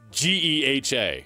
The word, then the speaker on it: GEHA: Do we Do we just Do we say the letters or do we pronounce the whole thing? Oh, so it's Ge Ha here.